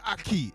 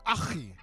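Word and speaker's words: أخي: And it's, when man go, Wagwan Aki, it's Wagwan Achi. It's Achi. Where's the bro? Don't say Aki. They say Aki and Sockfish, bro. I'm not Jamaican. I'm Muslim. It's Achi. Yeah? Not Aki.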